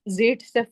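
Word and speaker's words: Zaitsev: सेडजेव। समझो कहां पे कौन सा रूल लगा रहे हो, राइट? वैसे इसको प्रोनाउंस जेड सेफ करते हैं, उल्टा करते हैं, पर व्हाटएवर इट इज फाइन, फर्क नहीं पड़ता।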